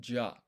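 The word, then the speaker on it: じゃ: Not jia, it's ja.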